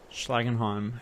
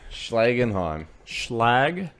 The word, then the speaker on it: Schlagenheim: How do you say the album's name? Schlagenheim. Schlagenheim.